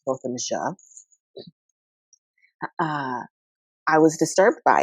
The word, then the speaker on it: Botham: Jean case for learning from the family it's pronounced Botham uh I was disturbed by it and a